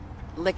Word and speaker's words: LIC: If it's Lick Entertainment. Oh, okay. It's spelled obviously the way it sounds. LIC Entertainment. Yeah, LIC. No K, just a LIC.